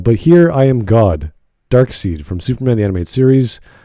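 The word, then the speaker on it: Darkseid: here i am god dark seed from superman the animate series more dark side side or seed is it side outside it's pronounced side yeah it's a really weird spelling all right dark side dark seed is seed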